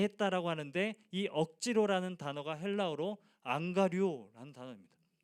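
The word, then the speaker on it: ἀγγαρεύω: 그래서 억지로 같이 가게 했다라고 하는데이 억지로라는 단어가 헬라어로 안 가류라는 단어입니다. 어 안 간다라는 그런 의미처럼 들리는데 발음이 자꾸 그렇게 들리는데 안 가료 이런 단어입니다.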